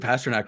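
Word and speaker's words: Pastrňák: main reason was that it rhymes with tabernac like that's what I really liked about it is that you could swear and make it loud but yeah what a David Pasternak might end up being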